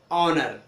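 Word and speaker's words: honour: इसी तरह से एच साइलेंट कब होगा, एच साइलेंट कब होगा, जैसे आवर, एयर, ऑनर। तो दिख रहा होगा आपको, यहां पर एच साइलेंट है, आवर, एयर और ऑनर।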